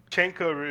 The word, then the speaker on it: Chenkorus: Mark is back with Chenkorus. Is that how you say your name? Chenkorus is supposed to be how it's supposed to be pronounced, but Chenko is fine.